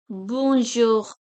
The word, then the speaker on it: bonjour: For example, bonjour, bonjour, bonjour, bonjour. So here we are pronouncing the last letter R.